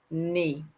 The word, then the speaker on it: n'est: Next, nez, an apostrophe est, that is pronounced nez.